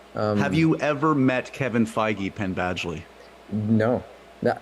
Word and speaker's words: Feige: I don't even know how to pronounce his name. It's Feige. That's the first. Feige.